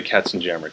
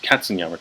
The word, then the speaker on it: Katzenjammer: katsuyama two kids yeah so if you've heard of the Katzenjammer kids which is the system just gonna anglicize that because that's how it's usually pronounced so this was the